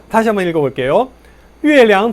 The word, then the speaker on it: 月亮: 月亮, 月亮, 량자 약하게 경성으로 발음합니다.